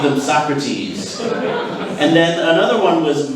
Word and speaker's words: Socrates: anything um some of the things i heard mispronounced today was so crates so crates is a philosopher his actually name